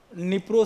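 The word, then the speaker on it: Dnipro: आप देखिएगा है ना एक निप्रो शहर है यहां पर डी साइलेंट होता है जैसे नी परर नदी है उसमें डी लगता है डी पढ़ा नहीं जाता बस है ना तो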